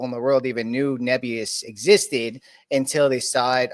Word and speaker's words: Nebius: What's how do you say Nebius? Nebus. Okay. I've been saying Nebius. So, Neb could be.